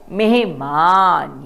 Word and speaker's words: मेहमान: मेहमान क्या बोलेंगे मेहमान यहां पर ह की ध्वनि थोड़ी कम है। इसका अर्थ यह नहीं कि हम ह नहीं बोलेंगे या हम ह नहीं लिखेंगे। नहीं हम इकट्ठा लिखेंगे। म को ए की मात्रा और ह मेहमान मेहमान क्या शब्द है? मेहमान। कुछ लोग इसे मेहमान भी कहते हैं। परंतु इसका सही उच्चारण है मेहमान यानी कि गेस्ट।